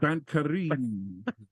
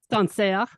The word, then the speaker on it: Sancerre: Joe would like to try out his French pronunciation. Al: No. Skip this part. No, no. Joe: St. Carine. Chateau. Chateau de Papa. Andi: Sancerre.